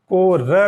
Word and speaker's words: कारो: इसी तरह से ल का उच्चारण भी र के रूप में होता है। काला, तो इसको ब्रज में कहेंगे कारो। पीला, तो इसको कहेंगे पीरू।